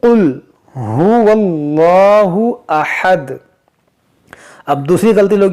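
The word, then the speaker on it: هُوَ اللَّهُ: आपको 'हुवल्लाहु', 'हा' के साथ दम्मा, ' वाव''लम' के साथ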